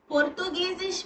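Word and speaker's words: Portugiesisch: देखिए for example पोर्तुगीजिश पोर्तुगीजिश में आई ई है तो इसको इ बोलेंगे ये जो इ दिख रहा है उसका उच्चारण इसमें करेंगे प्रोनाउंसिएशन अगर हसन होगा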